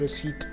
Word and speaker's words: receipt: pronunciation of the word receipt. This word is of Latin origin, and the P remains silent all through the word.